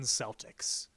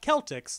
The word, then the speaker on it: Celtics: team Larry Bird and two Boston Celtics not Celtx like one of my cousin's once pronounced it I don't know why